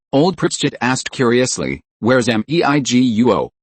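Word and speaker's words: 美国: Where's Meiguo? It means America, but the pronunciation is the pronunciation of Chinese pinyin, Ron explained with a smile.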